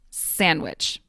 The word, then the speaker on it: sandwich: The D in sandwich often disappears, but not always, to become sandwich. Although some people will still pronounce the D.